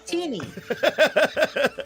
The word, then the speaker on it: Tiny: part of that campaign tiny teeny it's three it's always been tiny teeny teeny is t-e-n-y your name is spelled t-i-n-y it's teeny well then change your